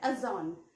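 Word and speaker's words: adjourn: में आ रहा है, अजॉन. ठीक है, उसकी स्पेलिंग होती है ATJOURN, और यहाँ पे भी डी साइलेंट होता है, हम इसे अजॉन पढ़ते हैं.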